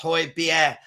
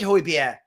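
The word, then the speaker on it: Højbjerg: I'm here to educate Danish Hoyer pronounced ho beer I I said Hoy beer I keep saying Hoyer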